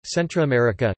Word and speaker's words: Centroamérica: Central America Spanish, America Central, pronounced Amica Central, Centroamérica Centroamérica is the southernmost, isthmian portion of the North American continent, which connects with the South American continent on the southeast.